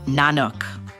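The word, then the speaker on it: Nynuk: Now, before they became the new kids on the block, Star decided to call the group, wait for it, Ninuk, pronounced Nanuk.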